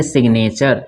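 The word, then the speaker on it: signature: यहाँ पे क्या है सिग्नेचर में जी को पढ़ा जा रहा है, इसको पढ़ेंगे सिग्नेचर।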